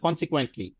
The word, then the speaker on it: consequently: consequently, কিউটা হচ্ছে যে ওই যে কে এর মতো উচ্চারণ হবে, কে এর মতো জোরে। সো consequently, একসাথে বলেন consequently।